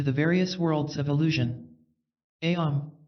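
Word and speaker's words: Aum: various worlds of Illusion ayom or om as it is wrongly spelled and pronounced is used to shut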